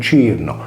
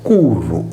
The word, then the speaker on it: Cyrnus: Infatti, la Corsica era scritta in latino Cyrnus, ed erroneamente letta in ecclesiastico latino con Cirno. Mentre, secondo le regole in uso nel tempo, tale etimo doveva essere pronunciato “Curru”, ovverosia nave o carro da guerra.